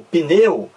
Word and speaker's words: pneu: sílaba pneu eu coloquei não existe a vogal i entre o pp eo n não existe a impressão nossa você pronunciar que pneu o pneu você não pronuncia o